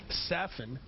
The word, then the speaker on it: Safin: I'll tell you, that first point when Safin gave him, now that we had to go to his coach to find out that his pronunciation is Safin.